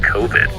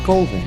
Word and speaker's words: Coven: It's pronounced Coven, man. What else could it be pronounced? Coven. That's the proper pronunciation. No. Coven. No. Coven sounds like oven, man, and that's just, it doesn't work.